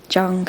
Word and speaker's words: Jung: He was a big fan of Jung, is that how you say it? I think. Jung, yeah, Jungian ideology.